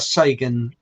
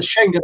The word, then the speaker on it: Schengen: morocco which is not a sagan area and i know i've pronounced that wrong but you know there are there's there was that saying about them that's the word the schengen agreement well apparently uh because